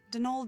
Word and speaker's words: Donal: That was the caretaker, Donald Delaney. Donald. Not Donald, mind you. There's no D at the end, so it's Donald.